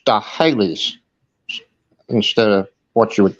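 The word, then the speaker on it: Sts'ailes: The name of the tribe was STS apostrophe AILES, but it's pronounced Stahales instead of what you would think, you know. The other S, the STS turned into Sta and then Hales.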